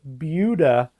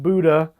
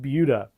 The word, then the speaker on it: Buda: It's pronounced Buda, not Buddha or anything else, but Buda.